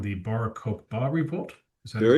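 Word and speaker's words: Bar Kokhba: The Barokba revolt. Is that very close? Barba is how an Israeli would pronounce it. I think an American would say Barba, but yeah, Barokba.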